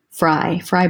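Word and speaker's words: Frye: Fry boots, another good one. F-R-Y-E is how you spell it.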